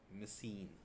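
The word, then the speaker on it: μισεῖν: ए नहीं होता, EIN होता है, MISEIN, मिसीन।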